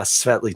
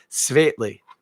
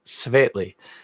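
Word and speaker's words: Světlý: a native czech speaker help me with my pronunciation it's svetely i believe is how you're supposed to say it svetely the savately 12 uh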